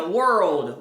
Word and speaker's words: world: Então, dá uma subidinha world, world, o que é muito diferente como as pessoas geralmente pronunciam, que é word.